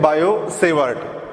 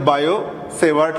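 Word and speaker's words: Biot–Savart: अब देखो यहाँ दो फ्रेंच साइंटिस्ट है, बायो-सेवार्ट. ठीक है, यहाँ पे टी साइलेंट है, we read as द बायो-सेवार्ट लॉ.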